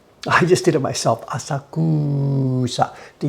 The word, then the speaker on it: Asakusa: So for the place we live, just pretend there's no U in there, and you're not going to be far wrong. Just pretend it's Asakusa. A-S-A-K-S-A, Asakusa, Asakusa.